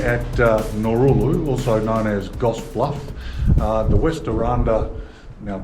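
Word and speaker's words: Gosse Bluff: It's Goss Bluff. Oh, that's a Goose Bluff. You said Goose Bluff?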